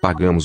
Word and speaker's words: pagamos: So I think the here is nasalized in the second syllable. Pagamos. Pagamos os tomates. So even though Pagamos. here is in the onset, it still has nasalizing influence. Very powerful.